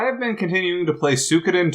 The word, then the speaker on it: Suikoden: So I have been continuing to play Suikoden 2, which I believe friend of the show Jake pronounces Shukiden. I thought it was Shidoken? You say Suikoden, don't you, Nick? Yes, I do.